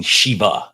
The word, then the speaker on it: Shiva: It was not the Shiba dance. It was the dancing Shiva, not Shiba, Shiva with a V.